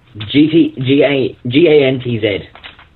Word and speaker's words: Gantz: I don't know if I'm pronouncing it right. Gantz? I've been watching Gantz on YouTube. G-A-N-T-Z.